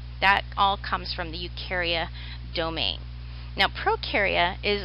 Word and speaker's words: Eukarya: the dog was called Eukarya and it's EU kar-wai a EU just means true